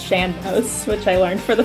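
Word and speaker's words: sean-nós: lot from what's called I always call it shanos singing apparently that's not how it's pronounced apparently it's shambos which I learned for the first time like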